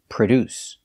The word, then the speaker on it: produce: make or manufacture products pronunciation produce we put the stress on the second syllable produce produce the first syllable is pronounced with a relaxed H sound like cup and up uh PR PR